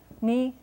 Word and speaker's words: municipal: It's a front rounded vowel, u, not u, but u. Municipal. Municipal, accent on the last syllable, as it usually is in French.